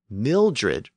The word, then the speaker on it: Mildred: But as a two-syllable word, Mildred retained its short vowel. When you compare mild and Mildred and child and children, you can hear something going on there.